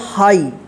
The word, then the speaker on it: high: हाई, MIGHT, इसको क्या पढ़ेंगे? माइट। ध्यान रखिएगा आई के बाद GH रहता है तो आई का आई उच्चारण होगा, ठीक है।